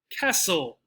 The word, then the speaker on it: castle: no climb lamb nope the t castle listen sound like this castle listen not castle or listen which school hour sound